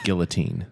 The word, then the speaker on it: guillotine: people no and you're judging me for my Guillotine no interest it's pronounced Guillotine uh my bad anyway so taking my dog